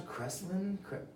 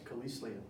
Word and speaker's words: Kelislian: We got my boy here, and how do you pronounce Kreslin?